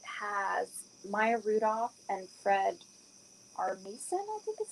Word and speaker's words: Armisen: It's definitely nothing like Black Mirror, but it's about the afterlife, and it has Maya Rudolph and Fred Armisen, I think is how you pronounce his last name.